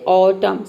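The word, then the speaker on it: autumn: देख सकते हैं कि न का साउंड कहीं कहीं पे भी नहीं है यहां प देख सकते हैं ऑटम सीधा ऑटम यानी कि एम क्या है यहां पे एन क्या है साइलेंट है ठीक है कॉलम इसमें भी एन साइलेंट है डैम हाइम इन सभी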